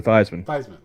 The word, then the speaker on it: Theismann: no no it wasn't name this was joe theismann yeah that's right yep it's i was i